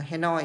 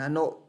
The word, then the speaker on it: Hanoi: bạn đọc là London, Hà Nội thì đọc là Hanoi chứ không phải là Hà Nội.